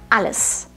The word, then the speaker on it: Alles: Alles.